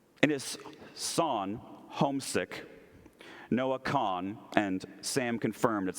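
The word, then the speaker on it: Kahan: In his song, Homesick, Noah Kahn, and Sam confirmed that's how you say it, speaks of homesickness in a new, fresh way.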